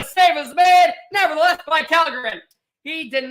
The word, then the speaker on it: Källgren: Oh, so you actually pronounce, I've been saying Källgren, it's Källgren.